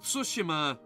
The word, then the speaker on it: Tsushima: way that is actually how you're supposed to pronounce it cuz ghost of tsushima was still a really good game and then